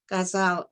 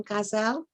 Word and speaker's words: ghazal: Ghazal, by the way, is pronounced differently in different languages. That's why it's so confusing. And I use the Persian pronunciation ghazal. But if it was the Urdu, you would say ghazal or something like that. And I think the English say ghazal, which sounds ridiculous.